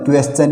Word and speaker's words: question: के आगे TION आए, यदि किसी वर्ड में एस के आगे TION आए या टी के आगे URE आए तो टी का उच्चारण च हो जाता है। ठीक है, जैसे QUESTION, क्वेश्चन यानी पर्सन। हम इसको फ्लुएंटली क्या बोल देते हैं, क्वेश्चन बोलते हैं।